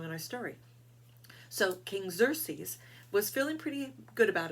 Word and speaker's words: Xerxes: of king cersei's now xerxes is spelled with an x which sounds like a z but we it still said xerxes now xerxes um was